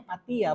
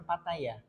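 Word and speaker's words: Pattaya: Fataya ini katanya eh mertua saya itu bacanya patiya bukan Pataya patiya katanya bahasa Thailand itu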